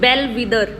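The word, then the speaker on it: bellwether: Next word is बेल विदर। Well विदर, इसको ऐसे pronounce करना, बेल विदर।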